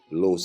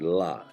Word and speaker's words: los: I mention Edwin de los Santos I always say Los not LA because La is feminine and I know I've